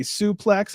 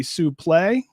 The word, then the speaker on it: suplex: Brett was correcting Prazak on the proper way to say suplex. It's actually suplex. How much do you know about that, Brent? Did you know it's called a suplex, not a suplex?